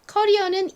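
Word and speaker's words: career: 의미를 가지고 있죠 자 커리어는 이렇게 쓰고 강세가 뒤쪽이 온다라는 거 다시 한번 더 머릿속에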